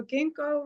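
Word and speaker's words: ginkgo: Somebody told me a long time ago, ginko rhymes with stinko.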